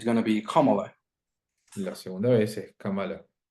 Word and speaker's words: Kamala: And she says, Y ella dice, my first name is pronounced Kamala, like the punctuation mark.